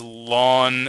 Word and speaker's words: ln: called the natural log some people like to pronounce this as lon I just I don't